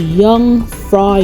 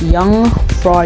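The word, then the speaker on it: Jungfrau: of Europe it's called young fry yuck even though it's spelled with a letter J it's pronounced young for young it's the highest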